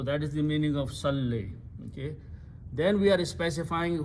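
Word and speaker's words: صلّ: So two letters with the jazm or sukoon cannot be pronounced, so we throw away this last letter waw. So what is left? Salli.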